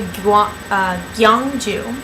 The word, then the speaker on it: Gyeongju: I went to Gyeongju, which I still have trouble pronouncing. It's Gyeong-Ju.